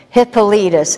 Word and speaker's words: Hippolytus: Say his name, Hippolytus. Isn't that a strange name? But it's got rhythm to it, Hippolytus.